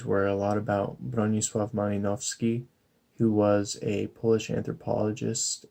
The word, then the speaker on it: Malinowski: It's Bronisław Malinowski. The W in Malinowski, it makes kind of a V sound.